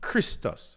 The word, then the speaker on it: Christos: In this case, so you have Christos, which is c h r i s t o s, Christos, right?